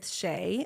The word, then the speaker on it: Shae: Tik Tok at sharei Shay and that's my name is spelled s Hae so you can find